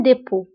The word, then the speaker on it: dépôt: هنا أيضا dépôt كنكتبوها بالتي في آخر الكلمة ولكن لا تنطق. Un dépôt.